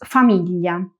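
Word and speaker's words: famiglia: Importante, la i se escribe pero no se pronuncia.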